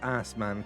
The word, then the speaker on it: Assman: Yes, Assman, Kirsty. That's how Briony's decided it's pronounced. His name is Odie Assman, so it becomes Odious Man. That's the pun.